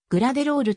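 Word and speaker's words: グラテロール: ブルージェイズ傘下所属発音指示によるとぐらでロールと読むのがより近い 2005 年にカンザス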